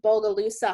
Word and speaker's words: Bogalusa: And actually, there's this study, I think it's pronounced Bogalusa heart study, and it was actually the first study to demonstrate that what we eat in childhood can start heart disease.